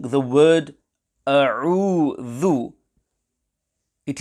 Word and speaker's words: أعوذ: When pronouncing the word a'udhu, it is important that the hamza and the ain are pronounced clearly and separately. At times, some pupils pronounce the letter hamza as ain and say a'udhu, or the ain is pronounced as hamza, a'udhu, etc. In conclusion, there is confusion between hamza and ain, hence care must be taken to ensure that hamza and ain are pronounced clearly and separately. The correct pronunciation will be a'udhu.